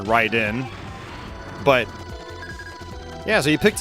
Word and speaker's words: Raiden: we were like whoa it looks like Raiden now I pronounce it right in but yeah so he